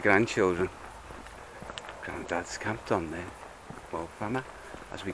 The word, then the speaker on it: Moel Famau: city, so it's quite iconic, Moel Famau, or Moel Famau, as is the correct pronunciation.